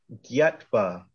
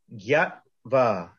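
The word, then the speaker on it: ज्ञात्वा: Gyatva. So let's practice saying that word. Gyatva.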